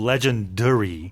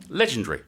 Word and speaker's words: legendary: And tell me if I'm wrong, Sue, but with your British accent, I heard a little legendary. Oh, But in North America, it'd be definitely a legendary. okay. How do you say it, Paul? Legendary. Legendary. There you So go, hear, yeah. It's almost Oh. 3 syllables. But Yeah, the pronunciation's in North America, it's different. definitely 4 syllables.